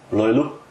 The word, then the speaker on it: löyly: true so let's talk a little bit about loyola is this the right pronunciation yes right because it's again an important